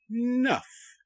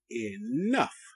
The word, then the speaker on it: enough: the SWAT sound okay the g h g make the F sound f f f good enough e e enough enough okay you see the